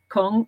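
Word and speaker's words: !Kung: It's actually spelled with an exclamation mark before the K-U-N-G, which is meant to represent a click. So it's Kong, as far as I know.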